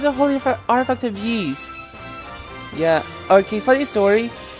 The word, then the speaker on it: Ys: This looks like one of the holy artifact of Yee's. Yeah. Okay, funny story. I used to call the game Wise because I didn't know the correct way to say it, but it's actually Yee's.